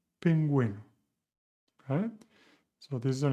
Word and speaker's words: pingüino: The same with guitarra and pingüino.